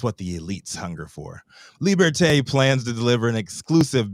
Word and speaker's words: Liberté: That's how it's pronounced. That's what he said. Liberté, to address what they say is a gap in the market and that's begging to be filled.